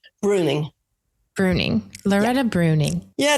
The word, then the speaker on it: Breuning: how do you say your your last name Bruning Bruning Loretta bruny yeah it's my ex-husband's name